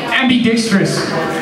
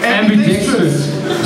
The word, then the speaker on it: ambidickstrous: How we pronounce that word? Justin. AmbiDICKstrous. AmbiDICKstrous.